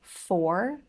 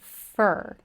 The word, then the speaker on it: for: And you may have noticed that I pronounced the word for in 2 ways. So the first time I pronounced it for, and the second time I pronounced it fur. And in American English, you will hear both, especially in rapid speech. We'll pronounce this word fur for about 2 minutes. But of course, you can say for about 2 minutes. Both are correct.